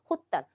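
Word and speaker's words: 発端: 호단 발단이에요. 보통 뭐예요? 하트나 하수로 발음되는 발자가 호수로 발언되는 발단.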